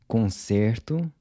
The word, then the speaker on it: conserto: Repair is conserto, and I repair is conserto.